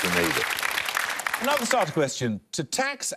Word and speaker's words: Grenada: It's normally pronounced Grenada.